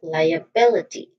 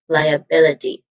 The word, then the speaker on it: liability: Now these primary stress is on the second I know the third syllable. So we say it as liability again liability.